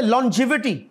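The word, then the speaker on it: longevity: है लजानिया कर चुके लो जिवि नी एल ओ एन जी तो लंग ही है लेकिन यह जब ल बनेगा तो यह लो जिवि है लंबी उम्र को ही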